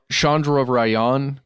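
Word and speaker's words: Chandrayaan: I think this is how you say it Shandra Ryan 3 probe mhm and isn't this the first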